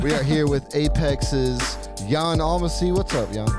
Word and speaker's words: Jan: are here with apex's yawn almost see what's up y'all what's up hey rob spelled like jan but it is yawning pronounced like you're about to fall asleep you know what it